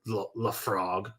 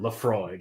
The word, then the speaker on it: Laphroaig: hell yeah i mean i've heard so many different pronunciations of those are the frog the floor left frog yeah wrong i mean it is gaelic and it's a ridiculous word laphroaig it's like you can't